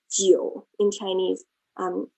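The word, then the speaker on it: 九: and also interestingly 9 geo in chinese um is also homophone to the word for longevity or length right jio and also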